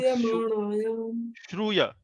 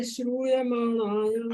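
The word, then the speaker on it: śrūyamāṇāyām: Okay, please pronounce this word Shruyamanayam. Suryamanayam. No, I think you are saying Suryamanayam. Shruya. यहाँ Yasyam Devanagari में. vai Shruyamanayam. हाँ, now it is better.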